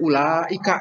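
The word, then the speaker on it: أولئك: Seperti ulaika itu. Kan di situ ada waw itu tapi tidak dibaca itu.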